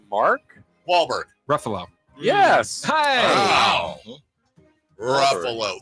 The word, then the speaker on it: Ruffalo: Walberg Ruffalo yes wow Ruffalo the only actor Ever whose name rhymes with Buffalo did you know that